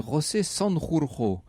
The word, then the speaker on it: José Sanjurjo: Petite parenthèse d'admiration et de bon point pour la prononciation en espagnol, parce qu'en général c'est un nom totalement difficile à dire, pour les gosiers français.